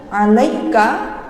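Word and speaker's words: عَلَيْكَ: Caranya bagaimana? Langsung meringis mawon, langsung tersenyum. Alaika, alaina, alaikum. Jangan sampai bacanya alai, alai.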